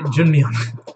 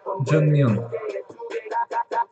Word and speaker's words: Junmyeon: Am I pronouncing that right then? Say Junmyeon. Abby, don't get so deep. Suho wants to be called Junmyeon. Okay. Junmyeon.